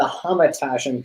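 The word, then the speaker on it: Hamantaschen: Well, I'm going to start off by saying that picture is not a proper representation of the Hamantashen cookie. That is the proper pronunciation.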